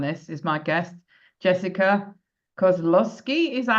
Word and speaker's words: Kozlowski: That's like super close. Kozlowski, Kozlowski. I honestly don't actually know how to pronounce it cuz my dad said that in the '40s you could change the pronunciation of your last name. So I just go with Kozlowski.